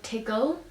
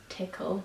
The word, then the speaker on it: tickle: I can think of is how you say tickle, which is obviously spelled with a CK. I say tiggle, so it would be spelled with 2 G's, and I don't know why, because I know it's spelled tickle, I've just never pronounced it tickle. I say tiggle instead.